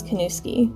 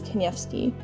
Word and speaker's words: Kanowski: part of our family my last name is kanowski but the polish pronunciation is kenyafsky the rest of my extended family uses that traditional pronunciation but for some reason i'm just not sure of my dad always just used the american version kanowski a lot of slavic names